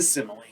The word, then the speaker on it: simile: first type is the simile and that's how it's pronounced we pronounce the e at the end and it's a comparison